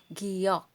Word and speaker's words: 기역: As of now, ang tawag niya ani, or tawag nito, in Tagalog is, I'm sorry, ang tawag nito is giyok.